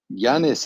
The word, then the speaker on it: Janis: trucks who knows um Janis I think you had your hand up I hope I pronounced that correctly yes yes it's correct yeah on this automatic